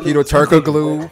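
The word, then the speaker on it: Türkoğlu: shard Luis Luis Turkey Turkoglu yeah but yeah but you don't but you don't pronounce the G the G is silent and then uh I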